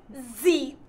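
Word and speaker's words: zeip: How do you spell that? Z-E-I-P. Zeep.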